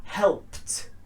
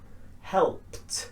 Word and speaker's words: helped: The ending here is a t sound, a t sound. So it's not id or d, it's a t sound.